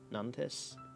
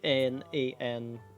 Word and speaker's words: Nantes: It's in a city called Nantes. Nantes. If I were to say it in English, because you would pronounce the S, like Nantes.